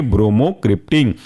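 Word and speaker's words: bromocriptine: टी आई एन ई जुड़ कर के बनेंगे ब्रोमो क्रिप्टन ये था हमारा आज का ऑडियो क्लासिफिकेशन बेस्ड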